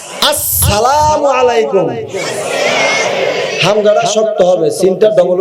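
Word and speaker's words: السلام عليكم: করেন সওয়াব পাইবেন বলেন আস হয় নাই আসসালামু আলাইকুম হামগাড়া শক্ত হবে সিনটা ডবল উচ্চারণ হবে সিনের উপরে জবর হবে অনেকে সিনের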